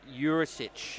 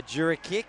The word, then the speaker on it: Jurisic: It's Jurisic. Beautiful, because But I've been mispronouncing that for years, I think. I was about to say I've been calling him a Jurikic or a Juricic.